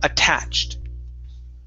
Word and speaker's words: attached: the other sounds so notice this is a d sound okay but this is a t because it ends in a ch okay so this word here is attached attached good good one